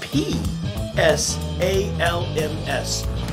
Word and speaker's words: Psalms: of psalms i know that's hard to say it's spelled p s a l m s psalms so you know what maybe tonight you